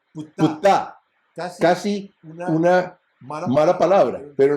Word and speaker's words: Ptah: Porque yo decía Ta, y decía no es Ta, es Ptah, Ptah. Casi una mala palabra, pero en realidad es Ptah, Ptah. No es Ptah, es Ptah.